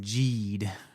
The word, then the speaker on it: Geed: been saying Ultram Man Ged, but the pron is actually pronounced G. Ultram Man Ged like geriatric. Not I don't know about that. The G is a J sound.